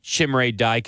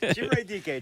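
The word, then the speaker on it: Chimere Dike: Nobody has said his name right. I've said it right every time I've said it. Chimray DK.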